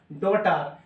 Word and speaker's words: daughter: silent mode রে থানা silent চুপচাপ থানা ওকে ER টার আর DAU তো হয় না ড লিখা উচ্চারণ DAU না উচ্চারণ হয় ড লিখা উচ্চারণ ওটা কয় ডটার GH মানে টি এর